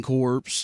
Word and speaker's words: Corps: I mean, he's done all kinds of stuff, served in the Marine Corps, and just – The P is silent.